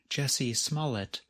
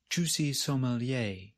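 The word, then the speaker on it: Jussie Smollett: questions one quick note chappelle is mispronouncing the name of american actor jesse smallett on purpose he refers to smallit as juicy sommelier don't ever forget what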